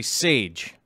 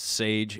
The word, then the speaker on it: Chage: okay so chage baker name is spelled chage but it's actually sage good job on messaging me to let me know that your name is actually pronounced sage it's just spelled a